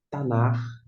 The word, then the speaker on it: Tanach: Tanar é a pronúncia.